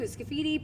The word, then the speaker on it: Sciti: Sciti, people butcher it all the time. So, I always tell people scit like graffiti.